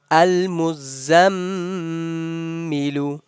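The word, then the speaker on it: المزمل: We are doing ghunna. We remember we learned ghunna. A ghunna is holding the sound of meme or noon whenever they comes with shadda sign. Whenever they come noon and meme come with shadda sign, we have to hold the sound for a while.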